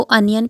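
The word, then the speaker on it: onion: आर री cheap और प्याज को ओनियन नहीं कहते हैं इसको अनियन प्रोनाउंस करते हैं ठीक है आई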